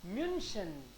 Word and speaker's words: München: Das ist München. Mu. Why u? Because this is u umlaut.